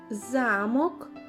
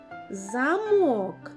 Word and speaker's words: замок: який склад на другий замок замок молодець У першому слові наголос падає на перший склад замок а у другому слові замок наголос падає на другий склад ось ти отримав і